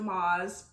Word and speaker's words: Maas: Maas or Sarah J. Maas, I pronounce it Maas, A Court of Thorns and Roses, in her book A Court of Wings and Ruin.